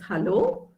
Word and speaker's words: hallo: Okay, and you can also use the word hello, which is pronounced as hallo. H-A is ha, so hello.